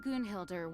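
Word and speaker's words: Gunnhildr: With Grandmaster Varka away from Mondstadt for the time being, I, Jean Gunhilder, will oversee Wait, it's today's pronounced proceedings.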